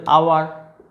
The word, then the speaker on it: hour: যে ওয়ার্ডগুলো, এদের উচ্চারণ, এরা এইচ দিয়ে শুরু হলেও এদের উচ্চারণটা মেনলি কী দিয়ে আসছে, ভাওয়েল উচ্চারণ, ঠিক আছে? অনার, honest, honourable, আওয়ার, HOUR, আওয়ার মানে 1